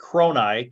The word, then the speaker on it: Kroni: The people of Arakazine would have been listed as the Araki, Araki, the Kronii, Kroni, the Sueneist, Suenist, and the Rogaru, Rogaru.